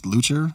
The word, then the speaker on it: Leuchter: the fact it seems pretty obvious that it's lucha yeah sure like yeah it like that's how it's spelled but for some reason but the name